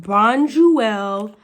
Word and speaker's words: Bonduelle: So it's pronounced Bonduelle Bistro.